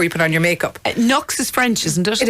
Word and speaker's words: Nuxe: And to be fair, Nux is always, and that's, by the way, listeners, because I know you'll ask me this, it's spelled Nuxe.